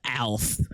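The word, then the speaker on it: Aleph: armless up through te he wah and finally alith which is the game's polite way of I pronounce it as alf saying your facility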